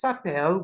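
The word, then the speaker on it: s'appellent: we have have e sapel which is they are called and the ENT here is silent and here we have El sapel with a silent ENT as well the both of them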